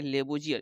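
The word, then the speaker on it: Lavoisier: प्रारंभ में रसायन विज्ञान के अध्ययन को केमी टेकिंग कहा गया और लेवाइसी यानी कि लेबोजियर, इस इंग्लिश में इसका जो उच्चारण हो जाएगा लेबोजियर।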